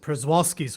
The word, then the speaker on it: Przewalski's: this Botai region was I've always pronounced it Przewalski's horse by pronouncing the P, but maybe that's not the correct pronunciation.